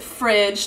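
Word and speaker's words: FREDG: eggs dairy and gluten it's spelled FR EDG but i just pronounce it fridge to make it easy and I mean that's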